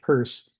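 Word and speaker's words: Peirce: Uh you you can find a lot of stuff about him but yes it's pronounced purse and and I thank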